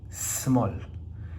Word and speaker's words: small: la pronunciamos así es en inglés esta se pronuncia de corrido y solamente tiene una sola sílaba y la vamos a entender como small como tiene una sola